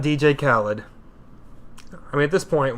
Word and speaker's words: Khaled: He says Khaled. DJ Khaled. I suppose you'd know having seen him live. Yeah. Someone's got to open for Demi. And why not DJ Khaled?